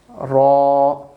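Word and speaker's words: راء: Your tip of the tongue will connect to the kind of the upper plate. Like raw, it will be little bit rounded. Raw, and the lip shape will be bold. So W is just mentioning bold sound. Your mouth will remain filled with the voice.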